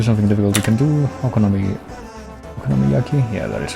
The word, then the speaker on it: okonomiyaki: We can do okonomiyaki.